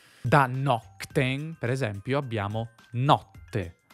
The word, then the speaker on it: notte: Da “nocte(m)” per esempio abbiamo NOTTE. La /t/ assimila /k/. Not-te.